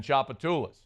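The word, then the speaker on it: Tchoupitoulas: that like she there's the T silent in chapatas the C is silent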